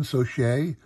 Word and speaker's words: Socha: Kevin Socha, was, it's, that's how you pronounce it. It's like Saucier, but Saucier.